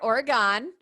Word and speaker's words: Oregon: So I'm going to name mine, it's Oregon. Is that how you say it? Did I get it right? Okay, Dawn corrected me earlier, Oregon.